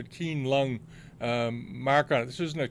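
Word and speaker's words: Qianlong: had an old Keelung kinesics pronounced a keen lung mark on this isn't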